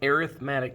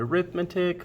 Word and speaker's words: arithmetic: people uh we are doing notes today on arithmetic sequence now most of you probably looked at this word and called it arithmetic fun fact you are wrong this is actually